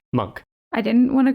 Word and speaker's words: Munch: the way I realized I was saying his name wrong not Munch monk I didn't want to